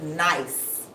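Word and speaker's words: gneiss: yes it's pronounced nice even though it's spelled g n i s s it's pronounced nice so a metamorphic rock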